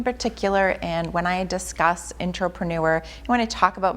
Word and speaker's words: Intropreneur: So, Jen, what influenced you to create the concept of the Intropreneurs? Am I pronouncing it correctly?